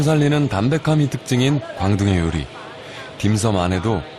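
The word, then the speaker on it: 點心: 섬 식당입니다. 우리말로는 점심이라 쓰고 광동으로는 섬이라 발음하는이 음식의 뜻은 광식간식이라는군요.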